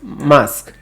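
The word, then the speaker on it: masque: How do you pronounce mask? Mask.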